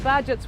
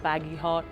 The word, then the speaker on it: Bagehot: night budget edition the badgets were a little bit of a strange breed we have a funny name people can't pronounce it they think it's baggy hot i was waitlisted when